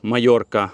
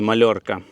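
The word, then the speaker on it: Mallorca: Паею, назва її Паея, але мабуть через двійне л в назві транслітерація в Україні є як паелія, але двойне л в Іспанії читається як й, тому це є паея, так само як місто, наприклад, Севія, а не Севілья. І острів Майорка, а не Мальорка.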